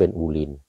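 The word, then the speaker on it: Boleyn: บูลีน หรือ โบลิน ก็ เขียน เป็น โบลีน แต่ ออก เสียง เป็น บูริน อื พระ นาง เจ้า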